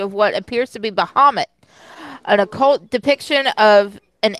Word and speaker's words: Baphomet: Yeah, do we not say Bahamut? I say Baphomet. I've heard Baphomet too. That's the way I've heard it pronounced.